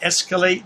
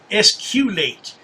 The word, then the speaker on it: escalate: Is that what escalate means? I'm not even sure about that word escalate because little Joey pronounces it differently. He puts a u in there. Esculate. Escalate.